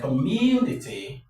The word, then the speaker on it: community: So, this is what takes the stress, community.